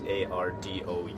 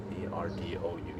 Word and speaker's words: Arudou: And there's another guy whose name is Debito Arudou, and that is spelled like David, which is the katakana version is Debito, Debito. Arudou is Ardou. Ardou.